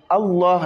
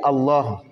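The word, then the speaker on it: الله: dans le La de Allah, pas les autres La. La lettre Ra est prononcée avec tafkhim Ra. Mais la lettre La, elle, est prononcée avec tafkhim uniquement quand c'est dans le mot Allah.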